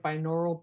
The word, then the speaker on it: binaural: fan of the B am I saying it right binaural beats when I'm writing I think you're saying that yes correctly saying it correctly I think there's some